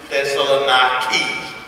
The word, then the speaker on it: Thessaloniki: That's how you actually pronounce Thessaloniki.